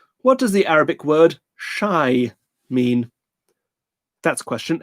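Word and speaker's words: شاي: What does the Arabic word shy mean? Difficult to spell that, given that it's Arabic, but it's the letter for sh, the letter for air, like a long A, and the letter for E, shy.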